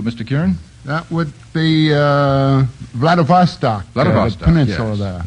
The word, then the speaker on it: Vladivostok: Vladivostokovich? No. Vladivostok is right.